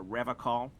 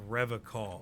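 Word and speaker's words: Revachol: to stay strong for rev call what why don't you even pronounce the place right he pronounces revon with a hard K unlike other people that feels skey serious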